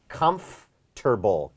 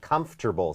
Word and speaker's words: comfortable: ซึ่ง สังเกต นะ ครับ จะ มี วิธี ออก เสียง อย่าง นี้ Comfortable Comfortable 3 พยางค์ หรือ 4 พยางค์ ก็ ได้ เป็น Comfortable Comfortable หรือ